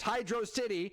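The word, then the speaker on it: Hydrocity: Most of the time we would wash in Hydro City, which is the correct way to say it, by the way. It's Hydro City. Anybody that says it's Hydroity is a brainlet that I can't believe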